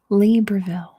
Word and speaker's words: Libreville: is Kuwait next is libreville libreville at least that's how you say it in English libreville libreville libreville not